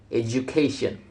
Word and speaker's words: education: The base word educate carries its main stress on the first syllable, but when the suffixation is added, the stress shifts to the syllable immediately before the suffix, resulting in education.